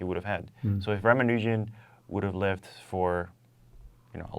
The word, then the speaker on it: Ramanujan: Ramanujan.